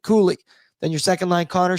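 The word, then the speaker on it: Cuylle: So let's have an awful night with Mika Zibanejad and Will Cooley. We Googled the pronunciation today on ONE. It is Cool-E, not Cully, Cooley.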